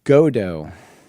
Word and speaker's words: Godot: Oh, and also just um real time followup out there, Godo. It's apparently the pronunciation. It's French.